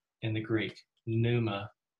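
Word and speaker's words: πνεῦμα: That word is pneuma in the Greek, pneuma. The P is silent.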